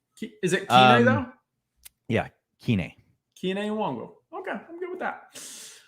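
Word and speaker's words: Kene Nwangwu: How do we pronounce Kine Nwang? Kine Nwangwu.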